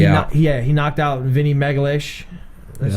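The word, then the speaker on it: Magalhães: He knocked out Vinny Megalish.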